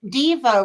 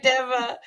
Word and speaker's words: Dava: you and a reminder my name is Deva did I say it wrong you said Diva would sound like an invitation to be one but oh sorry Deva I'm sorry I practiced